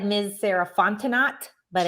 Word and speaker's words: Fontenot: was like let's know don't pronounce the t the t is silent um yes and then